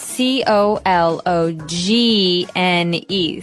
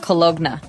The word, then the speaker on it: cologne: It ends with uh it it's spelled C O L O G N E. So you don't really say the G. It's not cologna, right?